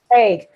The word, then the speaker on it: Hague: Hague.